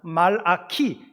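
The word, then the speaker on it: מלאכי: 히브리말로 하면 말아키 이렇게 발음을 합니다.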